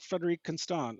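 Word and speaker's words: Frédérique Constant: I was like Frederic Constant.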